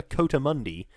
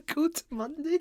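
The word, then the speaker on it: coatimundi: and then there's a second verse involving a coattamundi, and it rhymes with Sunday.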